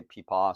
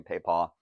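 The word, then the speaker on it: P'i P'a: said the name um different people pronounce pronounce it differently uh I've heard even differences from people who speak CH Chinese so some some say peaw some say Paya there there are even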